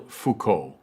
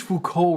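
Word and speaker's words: Foucault: the final of these four players namely Michelle Fuko this final player is perhaps the least known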